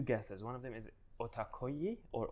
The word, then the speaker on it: OTAKOYI: One of them is OTAKOYI or OTAKOYE.